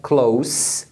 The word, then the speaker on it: close: Close Friends então é Close com som de s Close Friends nós somos